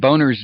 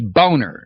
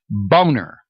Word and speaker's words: Boehner: economic strategy obama mentioned boehner's name several times and obama keeps mispronouncing it it's not boehner it's boner i wish somebody would get that across the president this guy's name is boner boner he named him